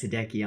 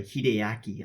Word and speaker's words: Hideaki: it's it's some good-ass hideki ah no I'm sorry Hideaki on oh let me